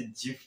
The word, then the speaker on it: GIF: ज्यादातर लोग इसे एक हार्ड जी के साथ गिफ प्रोनाउंस करते हैं। इवन मैं भी इस वीडियो में कई बार गिफ प्रोनाउंस कर चुका हूँ, लेकिन विलहाइट जिन्हें गिफ फॉर्मेट का आविष्कार करने के लिए 2013 में वेबी लाइफटाइम अचीवमेंट अवार्ड से सम्मानित किया गया था, तब उन्होंने कहा था कि इसे एक्चुअली में जिफ के साथ प्रोनाउंस किया जाना चाहिए।